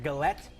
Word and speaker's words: galette: like pizza but it's called a galette in French I need to pronounce this right galette yeah okay so it is like a real thing and it's fancy but it's not like the razors no that's Gillette oh that was a